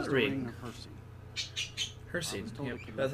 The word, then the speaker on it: Hircine: Hircine, yep, that's how you say it.